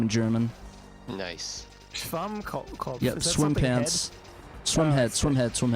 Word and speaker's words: Schwammkopf: How do you pronounce the word SpongeBob in German? SpongeBob Schwammkopf. This is his name in German. Nice. Schwammkopf.